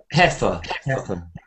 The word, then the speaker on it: heifer: Heifer.